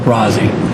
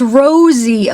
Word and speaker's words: Rozzi: It's pronounced Rosie, not Rozzy.